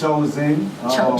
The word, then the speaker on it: Choz1n: It's Choz1n. Just Choz1n. Just Okay. Choz1n. Okay.